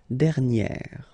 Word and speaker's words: dernière: And you will get dernière.